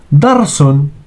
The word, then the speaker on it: darsun: We say darsun, a lesson. Dal plus ra plus sin. Pay attention, we don't say darsun with sad, okay? Not with sad.